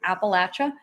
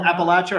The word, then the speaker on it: Appalachia: He did a video on Appalachia and strange happenings and strange occurrences. Did he call it Appalachia or Appalachia?